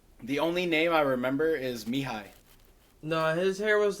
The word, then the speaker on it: Mihai: It's No, spelled like it's I think it's Mihai. Mihai. Spell that again.